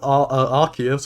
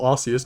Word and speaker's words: Arceus: Also, I don't want going off of Arceus or Arceus, depending on how you want to pronounce it, going on to Brilliant Diamond and Shining Pearl.